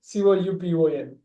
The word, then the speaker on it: coupon: கூப்பன் இல்ல, கூப்பான்.